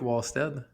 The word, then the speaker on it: Wallstedt: Ben, c'est parce que je comprends que ça s'écrit Wad mais à la Suédoise, ça se prononce W Stead.